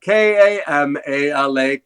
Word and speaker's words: Kamala: in at Fourth and that one was Kamala k-a-m-a-la Kamala that's the one's not too hard to